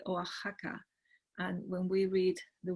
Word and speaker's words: Oaxaca: reading them out and notice by the way how we should read that x contain for example in this name as a day so we would say oaxaca and when we read